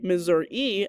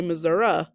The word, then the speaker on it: Missouri: Did you know there are two ways to pronounce Missouri? Some say Missouri and others say Missouri. Which do you say?